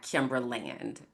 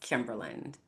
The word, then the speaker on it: Kimberland: My name is not Kimberland. My name is Kimberland, like England or Maryland.